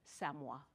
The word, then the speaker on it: Samoa: I'm going to spell it and you write it down. S-A-M-O-A. And we all know that country. It's an island in the South Pacific, and we say it is Samoa.